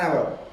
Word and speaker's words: hour: അവിടെയും അവർ എന്ന് പറയുമ്പോൾ ആ എന്നുള്ള ശബ്ദമാണ്. അവിടെയും വവൽസ് അല്ലെങ്കിൽ സ്വരാക്ഷരങ്ങളിൽ പെടുന്ന അക്ഷരത്തിന്റെ ഉച്ചാരണ ശബ്ദമാണ് ഉണ്ടായിരിക്കുന്നത്. അതുകൊണ്ടാണ് ആൻ അവർ എന്നവിടെ ഉപയോഗിച്ചത്.